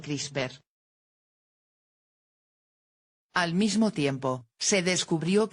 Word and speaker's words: CRISPR: espaciadas, o por sus siglas en inglés, CRISPR, pronunciado CRISPR.